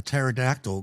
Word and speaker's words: pterodactyl: Why can't you hear a pterodactyl go into the bathroom? I got to give up on that one. I Because have no the idea. P is silent.